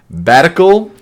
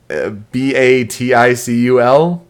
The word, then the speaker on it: Baticul: So the group is on their way back to Batical, which I cannot stand that pronunciation of the hometown. Let's see. Baticul. I thought it was CAL, but it could be CUL.